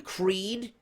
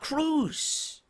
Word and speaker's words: Crews: You got fucking Daniel Bryan mispronouncing his last fucking name, Creed, and not Crews.